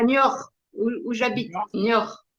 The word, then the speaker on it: Niort: Niort, Niort. Niort, Il faut prononcer de même.